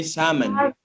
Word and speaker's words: salmon: they say they say salmon salmon they don't pronounce the L he say salmon is